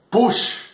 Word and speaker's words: puix: Una altra parauleta, puix, que ha de pronunciar-se puix, sense la i.